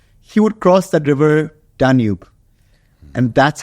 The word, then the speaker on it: Danube: Is it Danube or Danube? So it's actually Danube. Danube. But the Arabic, because of the way it's spelled in Arabic, Danube. So, a lot of the Emiratis or the Arab expats call it Danube. But it's been inspired from the river Danube.